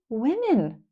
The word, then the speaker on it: women: They are spelled the same, but sound different.